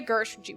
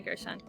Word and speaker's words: Gershon: hot but it's pretty much about uh Gina Gershwin would you say her name was Gina Gina Gershon Gina Gersh Gina Gershon just got out of